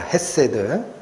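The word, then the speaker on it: חסד: 쓴이 단어가에 구약이 히브리어에 원어 단어로 하면 이게 헤드라고 읽히는 단어입니다 헤세드 예 그런게 있다라고 정도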